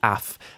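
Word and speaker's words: אף: This is af. Af. A, simple enough, and f. Af.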